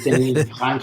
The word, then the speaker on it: Denis: By the way, it's Denis with a silent S because he's Canadian and French. Yes, Denis.